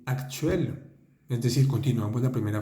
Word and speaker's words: actuels: Nous avons parlé du passé, de nos projets actuels. Actuel simplemente quiere decir actuales. Está en plural. Fíjense esa S al final. Actuel. No se pronuncia, ¿eh?